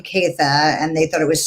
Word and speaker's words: Caytha: was growing up, and they heard the name Caytha, and they thought it was so pretty, but it's a Germanic name. It's spelled Kaethe, Caytha, and so they were like,